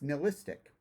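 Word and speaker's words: nihilistic: is it's worse it's Niall istic Niall rhymes with bile oh I thought it was nil Bronx with kill Natalie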